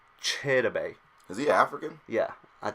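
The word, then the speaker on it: Chidobe: um now this guy a lot of people are gonna say his name wrong I feel like and they're gonna say Shelby just because it's probably the easiest but listening to his mother say it it was chitta bay to the African yeah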